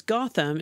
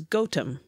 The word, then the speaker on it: Gotham: town and Nottingham sure that you pronounced as Gotham is pronounced by the locals as gautam and then it became gotham certainly by later and it got to north american yeah by the time mr.